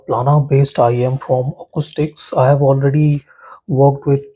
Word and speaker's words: Akoustyx: magnetic India monitor you guys can see Acoustics pronounced Acoustics oh yeah doesn't matter this is a planner